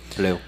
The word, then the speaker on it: Blau: victim uh Ellen Blau I think I'm saying that right blue it's pronounced blue blue okay fine whatever